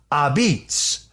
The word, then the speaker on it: apizza: His place is called Abitz which of course is the pronunciation of uh the word pizza spelled a p I za. That's how uh Italians say it. Abs.